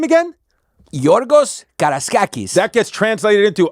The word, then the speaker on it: Georgios Karaiskakis: Yeah, Georgios Karaiskakis.